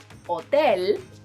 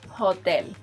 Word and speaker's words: hotel: Our next word is, letter H is silent in Spanish. I know it might be tempting to pronounce it as it is in English, but don't. Say hotel instead of hotel.